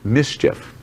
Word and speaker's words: MSCHF: It's pronounced mischief.